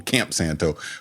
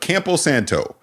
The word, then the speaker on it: Campo Santo: I always want to call them Camp Santo, but Campo Santo.